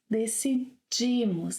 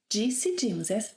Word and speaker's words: decidimos: ‘Decidimos’, as in 'jeans'. By the way, I cannot make ‘djeecidimos’ - 'de'...